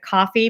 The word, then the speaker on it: Ko-fi: Dawn just posted the link for Ko-fi, which is really fun because I guess you pronounce it coffee, but they spell it kind of cute, which you can go